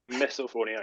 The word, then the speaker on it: MisophoniA: name Miss phonia I said it right Mia misophonia yes mop but yeah misophonia was the name